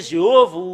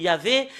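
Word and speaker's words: יהוה: nom de faux dieu ça a changé jéhov il y avait normalement ça doit être yava qui doivent prononcer et et après s'ils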